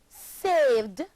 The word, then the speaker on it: saved: The verb save, save, becomes saved, and is pronounced saved, having only one syllable.